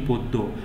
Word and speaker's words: পদ্য: করতে বলা হয়েছে যেমন পদ্য এর উচ্চারণ কি পদ্মা আমরা উচ্চারণ করি পদ্মা কিন্তু আসলে এটা পদ্মা না এটা উচ্চারণ হবে কি পদ্য আহ্বান আহ্বান উচ্চারণ কিন্তু